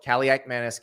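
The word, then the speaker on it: Kaliakmanis: say caliak Manis but it is pronounced exactly the way it is spelled caliac Manus caliak Manus caliac Manus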